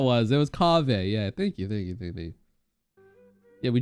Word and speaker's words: Kaveh: Cave A. No. How do you pronounce that again?